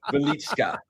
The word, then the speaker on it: Velichka: Velichka. That's apparently how you say it. I listened to the guy say it on Wiki.